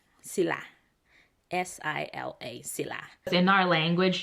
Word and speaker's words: sila: That's sila. Sila.